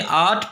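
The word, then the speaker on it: oughtn't: और ऐसे ही आट में आट प्लस नॉट में आंट। ये आर्ट में टी साइलेंट होगा तो आंट, आंट, आंट, आंट। OUGHT, ये जो टी है ये साइलेंट होगा, और N', आंट।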